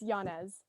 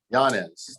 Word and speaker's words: Yanez: name isabelle yanez yeah it's yanez yanez thank you sorry accents on the wrong syllables okay thank you um